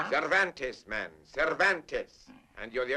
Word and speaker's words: Cervantes: Donkey Hotay by the Spaniard whose name is practically impossible to pronounce. Cervantes, man.